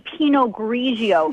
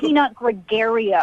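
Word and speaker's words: Pinot Grigio: You don't even know how to say penog grigio. It's not peanut gregario.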